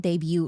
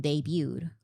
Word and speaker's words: debut: Also, I keep saying debut wrong. Because in my video essay, people were saying, love the video, Bora, whatever. You don't pronounce the T in debut.